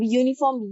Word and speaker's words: uniform: अब यूनिफॉर्म या से आएगा तो हम एन यूनिफॉर्म का प्रयोग ना करके हम लोग अ यूनिफॉर्म का प्रयोग करेंगे, क्योंकि ये कॉन्सोनेंट साउंड को लेकर आता है।